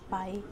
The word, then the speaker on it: pi: into two equal parts pi is a greek letter pronounced as pi with a constant value